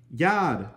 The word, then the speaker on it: Yod: You pronounce this one Yod.